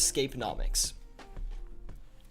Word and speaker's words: Scapeonomics: It's, so, Firedog, I pronounce it as Scapenomics, because I feel like Scapeonomics doesn't sound good. I kind of like Scapeonomics more. So, you could say either, honestly, but I'm going to pronounce it as Scapeonomics.